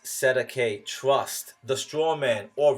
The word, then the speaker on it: cestui: You, the baby, are what is called a Cestui, pronounced Sedeke, trust, the straw man, or rather the collateral of the corpus body of the trust.